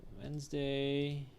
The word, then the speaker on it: Wednesday: So when you see Wednesday, the way it's transcribed, you will notice that there are only two syllables, and the syllables, you have Wednes, and then you have day.